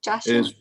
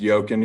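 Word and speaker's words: Joaquin: Joshua? It's pronounced Yokin, Your Honor.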